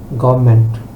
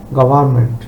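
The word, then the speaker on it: government: নাই এটা হবে প্রসিজার তারপর গভমেন্ট গভমেন্ট এটা হচ্ছে ব্রিটিশন আর আমেরিকান উচ্চারণ হচ্ছে গভার্মেন্ট দুইটা শব্দই right but English British R American উচ্চারণ ভিন্ন আমরা অনেক সময় কনফিউজ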